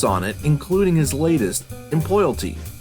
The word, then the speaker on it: Employalty: Well, first of all, you already get 10 bonus points for pronouncing it correctly. It is Employalty.